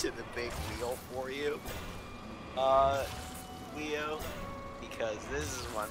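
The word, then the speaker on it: Weele: Jackson Wheel, spelled W-E-E-L-E. Jackson Wheel. Oh, he's actually... His name is Wheel? Yeah, but spelled like Welly.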